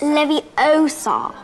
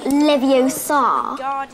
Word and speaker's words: Leviosa: someone's eye out besides you're saying it wrong it's leviosa not leviosa you do it then